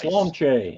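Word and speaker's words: Sláinte: Slonche. I learned how to pronounce that finally.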